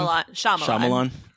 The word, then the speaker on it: Shyamalan: I don't know how to pronounce his last name. Shyamalan.